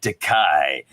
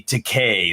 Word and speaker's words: Takei: you've he's he's like you've always said my name wrong you always said to kai and and he's like but it's actually takei like toupee some behind the scenes